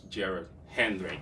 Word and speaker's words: Jared Henrik: That's Jared Henrik. I hope I pronounced his name well. Did I? Yeah, it's good.